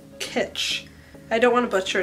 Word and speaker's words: kitsch: die for this packaging pitch is that what the how it's pronounced kits kits pitched kits pitched why am I saying L he gets three syllables pitch kits Shh like stitch but pitch how do you say